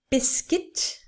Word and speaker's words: biscuit: a short video okay the first two words are pronounced in a similar way with the uit ending biscuit circuit okay so cuit